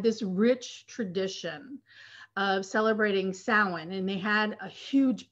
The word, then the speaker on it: Samhain: It related to the pagan holiday Samhain, which is spelled S-A-M-H-A-I-N, but it's pronounced Samhain.